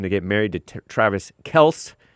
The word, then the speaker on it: Kelce: get married to Travis Kelce. Some people pronounce it Kelsey because these Kelces are too weak to correct anybody. It's kind of like Hank answering to Hank or James Hank answering to Jake Hank.